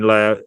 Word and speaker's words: Lowe: Brandon Robinson, Jared Vanderkooy, Bronson Bauman, Kobe Carlisle, and Ben Lowe, or Lau, they pronounce it.